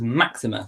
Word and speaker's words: Máxima: máxima and I do and the Queen did pronounce it Maxima it was Maxima so very I'm gonna try and say Maxima